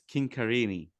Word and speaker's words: Chincarini: It's actually an Italian surname, so it's Chincarini.